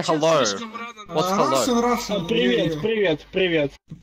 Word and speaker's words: привет: Привет. Hello is привет. Привет? Is that? No, am I saying it wrong? Привет.